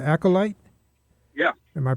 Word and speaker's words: Acolyte: Acolyte? Yeah. Am I pronouncing it right? Yeah. Okay. Can you talk? Well, we're running short on time, but can you tell the listeners about your band, Acolyte?